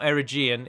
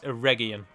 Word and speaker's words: Eregion: And finally, you have the Smiths of Eregion. Note, it is a hard G. It's not Eregion, it's Eregion.